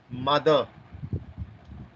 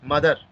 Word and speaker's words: mother: We should not pronounce mother, father, sister, sister, brother. Okay. Its correct pronunciation is mother, father, sister, brother. Okay, here also this R is silent.